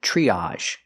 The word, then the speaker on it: triage: And this word is triage. Triage. Tr makes the ch sound like chicken plus the r tree. Use the long e like green beans. Triage. Again, we have the a sound.